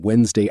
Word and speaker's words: Wednesday: Many learners say Wednesday, 3 full syllables. But in normal English speech, that middle part disappears completely. Wednesday, 2 syllables, just like that.